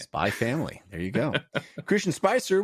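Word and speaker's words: Spy × Family: It's Spy X Family, like Spy Cross Family? Or Yeah, something? but I've never heard anyone pronounce the X or Okay. cross, so I stopped doing it. Spy Family.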